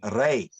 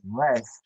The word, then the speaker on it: Reish: Like for example, from the Hebrew pronunciation of the letters, notice it's Reish. I didn't say Resh. I didn't say Rash. I said Reish.